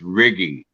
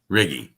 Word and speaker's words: Righi: been butchered before anyhow my italian it's italian name it's riggy riggy i thought that was